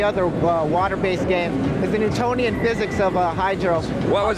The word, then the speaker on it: Newtonian: Newtonian spell that word n e w t o n i a n oh like Newton yes Sir Isaac Newton